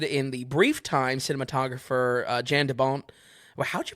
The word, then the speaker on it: Jan de Bont: This was directed in the brief time cinematographer Jan de Bont. Well, how'd you pronounce it? I believe it's Jean. Jean. Jean de Bont.